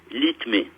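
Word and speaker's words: LITME: Le code d'activation de ce canal, c'est l'ITME. Alors, ça s'écrit L-I-T-M-E. L-I-T-M-E. L'ITME.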